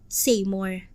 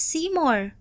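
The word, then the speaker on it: Seymour: pagbigkas ng kanyang pangalan cmore as a correct pronunciation but may Wayward Kido pronounce it as saym more I don't think my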